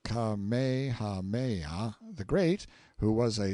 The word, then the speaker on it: Kamehameha: When Kamehameha, pronounced Kamehameha, the Great, who was